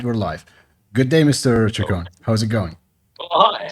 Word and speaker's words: Chacon: It's pronounced Chacon, Right.